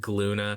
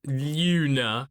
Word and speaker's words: Glüna: looks like this manga's title is genka and gluna however there's a little note in the manga that says the gene Luna is silent and it also has an umlaut so